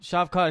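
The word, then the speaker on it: Shavkat: to go into is uh your fighter chef chef Kat is that how you pronounce his name yes chef Cod he he was supposed to debut last weekend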